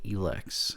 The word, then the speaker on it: Elex: I'm going to be talking about the focal elex apparently that's the correct pronunciation I'm usually one to get the pronunciation